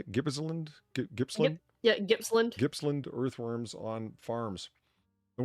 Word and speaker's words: Gippsland: Yeah, Gippsland.